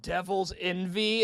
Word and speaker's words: DVLS NV: then like somebody commented like it's pronounced Devil's envy and I'm like no